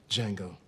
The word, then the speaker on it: Django: django what's your name django can you spell it d j a n g o the d is silent i know seriously look